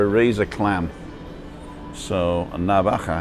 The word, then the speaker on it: navaja: razor knife or a razor clam so a navajo it's spelt n-a-v-a-j-a can you see that i know